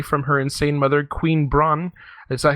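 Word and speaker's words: Brahne: The thief group Tantalus stages a kidnapping to get Garnet safely away from her insane mother, Queen Braun. Is that how you pronounce the name? Braun, yeah.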